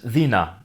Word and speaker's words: dina: C'est prononcé comme / ðina / parce qu'en catalan "d" est prononcé comme le doux / ð / son entre les voyelles.